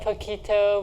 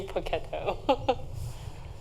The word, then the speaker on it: Poketo: And my grandmother raised me, actually, so I'm really close to my grandmother, and she would always say Poketo instead of pocket.